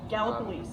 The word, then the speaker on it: Gallipolis: Then I went to his town of Gallipolis, Ohio. Gallipolis. It's not pronounced any way else. As far as I know, it's Gallipolis, Ohio.